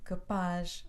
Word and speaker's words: rapaz: capaz rapaz que pus mas como acabam com z o acento recai na última sílaba rapaz rapaz capuz não é